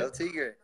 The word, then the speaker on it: El Tigre: Is that how you pronounce it? El Tigre.